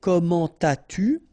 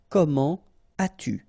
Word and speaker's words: comment as-tu: adverb like here, so avec un adverbe, don't make the liaison. So, you don't say comment as-tu? No, no, no, nothing here. Comment as-tu?